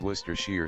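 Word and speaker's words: Worcestershire: jono wants to say worst to Sure sauce Worster sugar how am I going to do this I need a reference I might have to draw redraw large parts of this one it's actually pronounced Worcester Shear sauce so you say so you say okay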